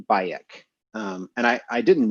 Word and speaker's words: Bayek: asked like well okay why the vocalization bayek where did you come up with that pronunciation because we don't actually know what the middle egyptian would have sounded like they said well we named him bayek because we didn't want to call him bike because that sounded too